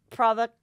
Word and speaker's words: Provocateur: And it's Agent Provocateur.